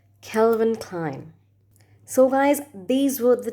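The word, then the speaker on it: Calvin Klein: brand it's an american brand and it's not kelvin killen or something else it's kelvin klein kelvin klein kelvin klein so guys these were the 10 famous luxurious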